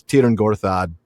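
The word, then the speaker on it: Tyrn Gorthad: So it's you make an ooh shape with your lips. So ooh, but then you say e.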